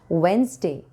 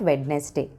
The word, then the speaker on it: Wednesday: As you have seen the thumbnail, let us learn some mispronounced words. Wednesday, Wednesday, not Wednesday.